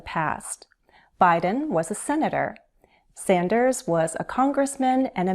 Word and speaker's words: Sanders: Sanders, with a Z sound at the end, Z, Sanders. Warren.